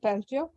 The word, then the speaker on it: Peltier: coefficient and uh okay peltier coefficients pronounced peltier peltier coefficient and the